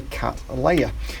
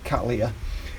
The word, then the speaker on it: Cattleya: Well, the guy who it's named after is a man called William Cattley. Now, he was an Englishman, and usually anything ending in ley is pronounced lee as opposed to lay. So you would expect it to be Cattleya.